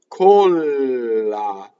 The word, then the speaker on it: colla: So single L, colla. Double L, colla. So you hear the difference and you can feel the difference because when you do double L, your vocal cords go.